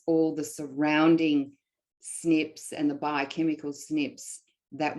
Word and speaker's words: SNP: what is a genetic snip and snip is usually um it's spelled with a capital s capital n and a capital p so what does that